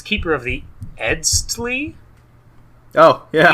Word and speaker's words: Eztli: I think it's Keeper of the Edstli. Oh yeah. EZTLI. It's Tali.